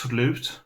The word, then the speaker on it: slut: But the thing is, it's pronounced slut, but it's spelled S-L-U-T. So it looks like the word slut.